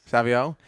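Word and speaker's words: Savoie: uh proo motorcycle Jerry how do you pronounce that randoo Savio yes Savio Pro Stock Alex Laughlin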